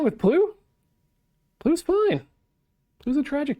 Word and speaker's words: Ple: Sorry, it's spelled P-L-E and said P-L-U.